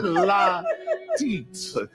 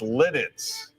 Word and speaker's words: Lititz: No, it's Lidditz. Lidditz. You were in the ballpark.